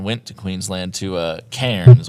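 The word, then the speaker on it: Cairns: Me and Steven went to Queensland to uh, cans or cans as I believe they call it because they don't like pronouncing Rs.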